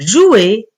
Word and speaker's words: joue: terminaison je joue e mais attention on écrit e sont la prononcer on dit que c'est une lettre muette eux est une lettre muette c’est-à-dire on la voit mais on ne la prononce pas je joue je